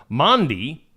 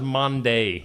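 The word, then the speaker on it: Maundy: Number eight on the list of of this list of 10, the word mandi. Yeah, mandi. I always thought it was Monday.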